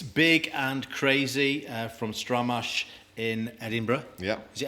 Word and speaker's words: Stramash: Is that how you pronounce it? Stramash.